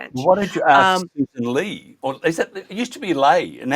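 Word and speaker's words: Ley: I think you have a Lee out of a Yeah, it's a Susan Lee rhymes with hey.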